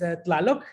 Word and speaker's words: Tlaloc: So My, I guess, artistic name is TLaloC. That's the way you pronounce it, Colette.